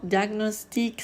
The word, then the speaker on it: diagnostic: Mais stagnant, diagnostic, stagné, cognition. Donc, on sépare la G et la N.